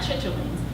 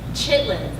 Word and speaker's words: chitlins: My grandmother had mixed pork brains and scrambled eggs, fried chitlins, not chitterlings, chitlins, I said it right the first time, and prepared something I've never tried since it never appealed to me, pig's feet.